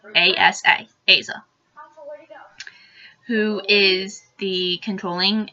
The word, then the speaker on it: Asa: Then you have Asa, and that's how I choose to pronounce it. A-S-A, Asa, who is the